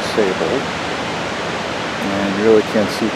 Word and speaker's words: Ausable: austral or sable river it's actually pronounced sable and you really can't